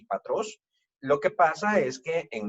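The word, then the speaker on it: πατρός: Es patros, no pateros, patri, no pateri.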